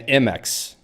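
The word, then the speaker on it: Emacs: Wilson CRA texer yes it's apparently Wix and MX that's that's how these are pronounced now uh all right last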